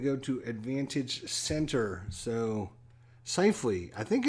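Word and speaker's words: Scheifele: name is Seifley, not Schaffel. I keep calling him Schaffel because it looks like it should be pronounced Schaffel, but I think it's Seifley is the way it is.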